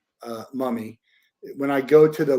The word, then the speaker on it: MVMI: If I go to and it's called, by the way, it's called muh-mee. It's spelled MVMI, but it's pronounced muh-mee.